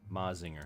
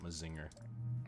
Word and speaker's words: Mazinger: Mecca oh right okay mazinger excuse me I gotta say it right it's not my Zinger that's not a catch